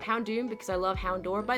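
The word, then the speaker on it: Houndoom: But I read it before I played the games before I knew the word daer. So it's hound door and it's hound doom.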